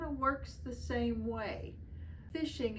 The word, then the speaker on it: phishing: it really kind of works the same way fishing it's spelled p i s h i n g